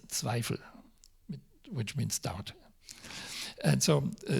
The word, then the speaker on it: Zweifel: But if you pronounce it word by word, letter by letter in German, it means Zweifel, which means doubt.